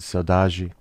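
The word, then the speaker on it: saudade: a little bit about the concept of saudad it's it's a beautiful word the brazilians pronounce it saudaji but it it it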